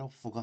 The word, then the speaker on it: off: 자, 이때 off, F 발음은 입술을 약간 깨물면서 발음해야 되기 때문에 그냥 off가 아니라 off. get up the subway, get up the subway.